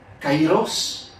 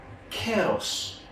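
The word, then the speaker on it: καιρός: de Dieu, qui c'est, premier mot c'est kairos, deuxième mot c'est kéros. Eh bien, chers amis, je vous l'ai dit même bagaille. Kairos, c'est comme ça vous prononcez lorsque il a enseigné nous le grec biblique ancien.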